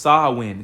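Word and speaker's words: Samhain: it's pronounced the it's a g galic word pronounced swin so it's um his root his roots go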